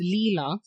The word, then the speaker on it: Lila: just shortened it okay and you said it's Leela Lea so why you don't want anybody in